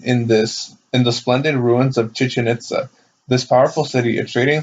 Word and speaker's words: Chichen Itza: Chichen Itza. Oh yeah, it's Mexico. It's almost spelled like chicken, but instead of the K, it's a H. So Chichen Itza.